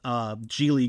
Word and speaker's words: Geely: You know, I went with Geely Group, which it is pronounced Geely, not Keeley, by the way.